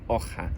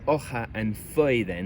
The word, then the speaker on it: hoja: It's become a more throaty consonant sound like in hoja, a bit like the CH in loch. Again, there are hundreds of examples of this.